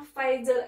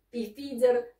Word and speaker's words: Pfizer: size and Beyond Tab jadi bacanya Faizal painted buatan Jerman ya temen-temen Jadi bukan thefhezer dan bio antek buatan